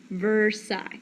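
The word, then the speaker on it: Versailles: why this treaty is called the Treaty of versai so the last five letters of that word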